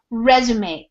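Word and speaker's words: résumé: then this pronunciation of this word is resume it's actually a french word and sometimes in english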